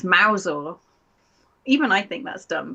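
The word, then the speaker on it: Mousehole: Mouse hole. Yeah, you think, wouldn't you? No, it's Mousel. Even I think that's dumb, but I think we just do it to weed out the foreigners. I mean, Mousel actually makes a little bit of sense.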